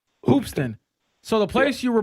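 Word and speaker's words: Hoopeston: Um so, if I'm reading this correctly on your Wikipedia page, it says you were born in Hoopiston, Illinois. Is that how I pronounce it? Hoopston. Hoopston.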